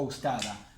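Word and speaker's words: أستاذة: Ustada, profesora. La T marbuta no la vamos a pronunciar si está así.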